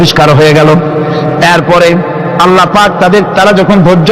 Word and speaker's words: আল্লাহ: বলেন তো আল্লাহ নয় কিন্তু আল্লাহ হচ্ছে অশুদ্ধ।